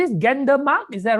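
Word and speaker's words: Gendarmenmarkt: do i pronounce this gander mark is that right gentleman mark zhan you have to pronounce it in the french way you have to imagine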